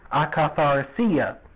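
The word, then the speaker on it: akatharsia: you the spelling the next greek word is acaphar sia and that's spelled a-k-a-t-h-a-r-s-i-a now this means impurity of mind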